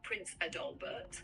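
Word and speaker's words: Prinz Adalbert: It's pronounced roughly Prince Adalbert.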